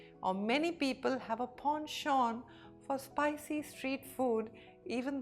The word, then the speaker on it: penchant: The Americans call it penchant and the Britishers call it ponchon. Example, my grandfather has a penchant for telling long stories from his youth. Or many people have a ponchan for spicy street food